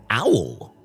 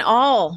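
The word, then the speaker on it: awl: uh bayonet blade and an owl an a WL is what it is how it's spelled oh an all it's a tool commonly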